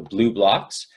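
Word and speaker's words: Blublox: There's also an Australian company called Blue Blocks with it's spelled B-L-U-B-L-O-X, so Blue Blocks, and they make good lenses that block both blue and green light completely.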